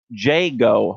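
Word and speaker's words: Jagoe: to make a correction my supervisor in owensboro kentucky says it's pronounced jaygo homes presents the owensboro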